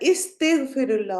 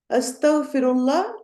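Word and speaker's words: أستغفر الله: जाती है बोलने में, और वो है कि अस्तगफिरुल्लाह होगा या इस्तिगफिरुल्लाह होगा, 1 या 2। ऑप्शन 1, ठीक है, अलिफ पे जबर है, तो ये भी आपने थोड़ा सा प्रोनाउंसिएशन में इन चीजों का ध्यान रखना है। अस्तगफिरुल्लाह इज करेक्ट।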